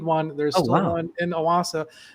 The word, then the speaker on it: Owasso: And it's Owasso. Owasso. That's where you found this copy press. Yes, that's Owasso. okay. That's how you pronounce it. Okay. Yeah. What was I saying? Osawa or something like that.